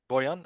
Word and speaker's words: Borjan: Borjan.